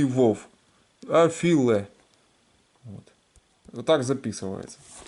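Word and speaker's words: אפֿילע: Афиле. Вот. Вот так записывается. Значит, значит, афиле, это афиле с ударениями, вот.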